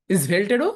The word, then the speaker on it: Svelte: ইজ ভেল্ট, এটার উচ্চারণ ইজ ভেল্টেরও এখন প্রচুর চাহিদা।